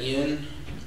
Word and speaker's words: Ean: My name is Ean. Last name is spelled E-A-N.